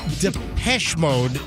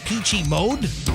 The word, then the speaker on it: Depeche Mode: It's Depeche Mode. You've been really saying the Peachy Mode?